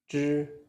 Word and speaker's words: zhi: Zhi is a retroflex sound. Your tongue should curl slightly backward. The tip of the tongue touches the hard palate. The roof of your mouth slightly behind the teeth. Then release the air. Release the air. Zhi, zhi, zhi, wu, zhu, zhi, wu, zhu. Don't pronounce it like z, he separately. It is one sound.